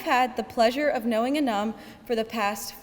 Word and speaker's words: Anum: The A in my name, however, is from the Arabic letter alif, and it's commonly pronounced Anum.